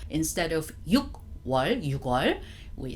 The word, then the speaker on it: 6월: We don't say 6월, it's 6월. 6월, I don't know how, but we decided to make it a bit softer. Instead of 6월, 6월, we say 6월.